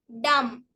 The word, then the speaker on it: dumb: for silent letter b letter B is silent after M at the end of a word example climb dumb dumb limb thumb we